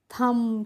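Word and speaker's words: thumb: इसको हम पढ़ते हैं थम क्या पढ़ते हैं थम पढ़ते हैं और थम मींस होता है अंगूठा और देखिए फ्रेंड्स इसमें भी हमने बी का प्रोनाउंस एशन नहीं किया है तो नेक्स्ट है डीयू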